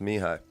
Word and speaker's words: Mihaly: First of all, explain how Mihaly is pronounced Mihaly. Well, it's a Hungarian name. It means Michael, actually, so it's really not that, crazy, but to some people it is.